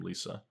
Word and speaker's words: Liesa: I pronounce her name Liesa.